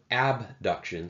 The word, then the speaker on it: abduction: sound very similar so i like to pronounce abduction a b duction sometimes just to emphasize that it's not adduction spelled with a d